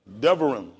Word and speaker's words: Devarim: Devarim. How we spell it?